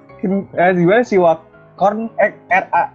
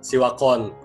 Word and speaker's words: Sivakorn: Kalau gue nih kayaknya V ini bacanya W. Sivakorn Piatrakun. Oke, gokil nomor 2. Mas Fajar benar. Dibaca Sivakorn Piatrakun. Karena benar, karena V dibaca W di Thailand itu.